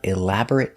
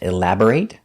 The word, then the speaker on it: elaborate: They put up elaborate decorations for Christmas. So remember, when you see this word, look closer. Sometimes it's pronounced elaborate, like a verb, and sometimes it's pronounced elaborate for an adjective.